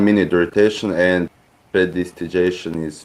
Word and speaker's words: prestidigitation: Predilegitation. Prestidigitation.